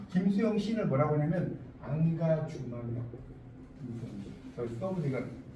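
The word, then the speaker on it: engagement: 그러니까 결국 이 김수영 시인을 뭐라고 하냐면 안가주망력. 여기 써보니까 안 나오니까 영어로 인게이지먼트. 인게이지먼트는 참여라는 뜻인데 결국 김수영의 시는 이건 프랑스어로 불어 발음이에요. 불어 발음. 이 인게이지먼트를 불어로 읽으면 안가주망력.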